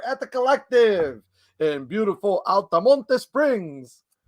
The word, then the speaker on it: Altamonte: the collective in beautiful altamonte springs that's the spanish way pronouncing it by the way it's altamonte springs but it sounds so